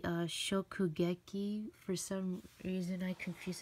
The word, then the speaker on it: Shokugeki: So, Shogeki no Soma Food Wars, volume 13. By the way, I realize I've said the name wrong all this time. Wait, it's actually Shokugeki.